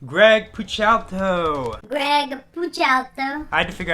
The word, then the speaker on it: Greg Puciato: they drop titled d greg push out to-- greg couch out there i had to figure out how to